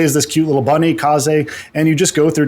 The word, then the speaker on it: Kaze: you pronounce it, is Kaze and the Wild Masks. I've heard it pronounced Kaze, I've heard it pronounced Kaze, but I think it's Kaze from reputable sources, of which I don't have any.